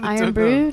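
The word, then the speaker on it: Irn-Bru: Brew we we gave this drink called iron Brew to an American the other day it's spelled i r n b r u and it's just like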